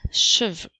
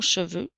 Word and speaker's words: cheveux: X a des cheveux le son eu fait le son e